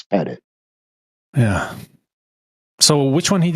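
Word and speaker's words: Pettit: T Don peted not petite for sake P it's pett it it's Double T it's not you you can pronounce the name any way you want but technically spelling it's petted yeah so which one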